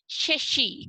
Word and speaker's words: शशि: शशि। क्या बोलते हैं? शशि। ध्यान रखना है इस श का उच्चारण कैसे करना है, जीभ को ऊपर की तरफ टच करते हुए, है ना।